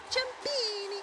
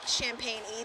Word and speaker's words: Ciampini: That is the English pronunciation. If it was a more Italian way, it would be Ciampini. Yeah. Ciampini. Ciampini. Ciampini. It's kind of fun. We don't say it like that. I explain it like Champagne-y. There's no H in my name.